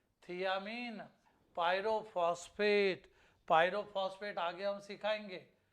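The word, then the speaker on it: thiamine: लोग इसको थाइमीन भी बोलते हैं, लेकिन ओरिजिनल में ये थियामीन पायरोफॉस्फेट।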